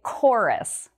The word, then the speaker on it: chorus: And the CH here, it sounds like a K sound, like a K sound. We say chorus.